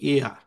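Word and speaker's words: heir: তারপরে হচ্ছে the king left, এটা কি হবে উচ্চারণ? এটা উচ্চারণ হবে কি এয়ার, হুম, ইয়ার। হ্যাঁ, তাহলে এখানে কিন্তু এটা কিন্তু হেয়ার না, মানে উত্তরাধিকার, উত্তরাধিকার এয়ার, তাহলে এটা হচ্ছে this is হিরোইক action, হিরোইক action, ঠিক আছে?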